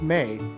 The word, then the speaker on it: Mai: Her name is Mei, but it's spelled Mai. Is it really? Yeah, it's spelled Mai, but it's pronounced Mei.